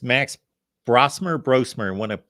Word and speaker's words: Brosmer: whimet very different quarterbacks and then it's Max brosmer brosmer I want to pronounce his name correctly Max brosmer yes brosmer now that you've seen him on tape and